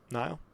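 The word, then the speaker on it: Nihil: We got Martian Row, 6 cost ground unit, cunning, villainy, 6 attack, 7 health, underworld, Nile? Is that how you say it? Neil? Yeah, no. Nile.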